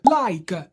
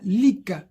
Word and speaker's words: like: Like. Donc ne dites pas lick.